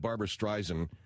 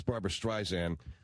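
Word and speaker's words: Barbara Streisand: We had to go back in and cut recut everything because I said Barbara Stryzen and it's Barbara Stysan and it's it was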